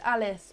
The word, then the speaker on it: Elise: you here um oh it's pronounced alice i'm ever so sorry